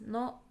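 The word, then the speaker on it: の: is a possessive particle it's pronounced as no no and it shows that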